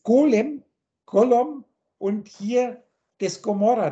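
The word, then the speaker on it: Gomorrha: Das ist das Golem, Gollum, und hier das Gomorra. Da wird vorne das Gomorra, wird zwar mit G ausgesprochen, ist aber auch eine 70.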